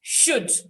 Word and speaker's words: should: is world um but there are some words that you don't need the lateral the lateral is silent there are a number of them three could would should so it's not called